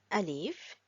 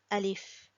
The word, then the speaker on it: ا: Now, Alif is pronounced from the lower part of the throat here. Alif, Alif, Alif.